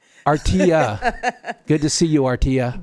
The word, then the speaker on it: Artelia: And the pronunciation is Artia. That double L is a Y. Artia, good to see you, Artia.